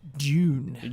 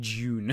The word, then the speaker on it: Dune: If you were a British, you'd say June. June. Yes. Like, I don't know where you get a J out of a D. It's but it's a silent D and it's spelled DJUNE.